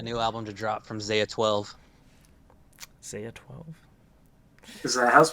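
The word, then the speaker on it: X Æ A-12: the baby uh no ash 12 is what it is the yeah it's spelled really weird at the beginning but it's pronounced ash canonically it's a hash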